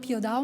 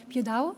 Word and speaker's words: Piódão: center of Portugal called Piódão. My pronunciation, it's not the correct, it's something like Piódão, and now João is going to tell us.